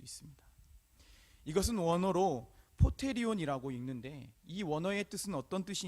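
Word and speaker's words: ποτήριον: 기록되어 있는 것을 볼 수 있습니다 이것은 원어로 포테리온이라고 읽는데이 원어의 뜻은 어떤 뜻이 있냐면 그릇이라는 그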